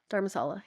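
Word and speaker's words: Dharamsala: I don't know how you pronounce it correctly, but is it Dharmasala? Dharmasala, yeah.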